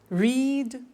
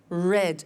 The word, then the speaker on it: read: make made meet met read read notice that now read and read are written exactly the same but the pronunciation changes in the past tense read read say said